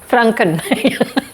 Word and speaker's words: Franken: Pronoun pronounce franken.